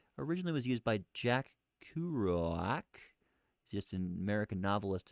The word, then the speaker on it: Kerouac: Kerouac. Kerouac. Okay, it's Kerouac.